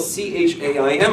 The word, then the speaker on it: Chaim: And because the ch sound doesn't come natural to people, and I'm Chaim. So he says, "What's your name?" And well, Chaim is spelled C-H-A-I-M. And I said, "My name is Chaim," because that's how it is. That's how it's spelled.